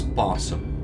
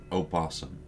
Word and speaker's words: opossum: we're saying it as possum. Yeah? Yes. Instead of as opossum. Yeah, you don't actually say the O.